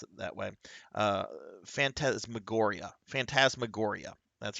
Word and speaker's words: Phantasmagoria: Let me pull up the darn name so I can pronounce it that way. Uh, Phantasmagoria. That's right. Fan- Phantasmagoria by Roberta Williams of Sierra.